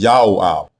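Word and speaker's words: יואב: the prefix diminutive form, but the way you pronounce it is not Joab. It is Yaoab, Yaoab. Yao is father.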